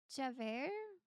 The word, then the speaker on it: Javert: Bro, pronouncing the final T in Javert is crazy. Oh, Javert?